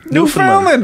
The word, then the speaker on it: Newfoundland: Newfoundland, as in understand. Right. Marijuana increases. Newfoundland is how you say it.